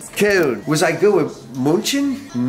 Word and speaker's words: Köln: Köln. Köln.